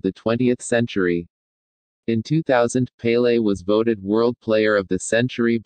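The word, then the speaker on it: Pelé: 23rd of october 1940 known as pele portuguese pronunciation pele is a brazilian former professional footballer who played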